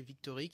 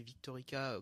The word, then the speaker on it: Victorique: euh qui s'appelle alors selon si on lit en français Victorique, sinon c'est Victorica quand c'est prononcé en japonais.